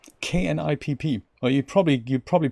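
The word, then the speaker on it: Knipp: in Bremen, we call knip, K-N-I-P-P. Or you probably pronounce it nip in the English-speaking world. It's got a K at the beginning, and we would actually pronounce that knip, and it is essentially the same thing.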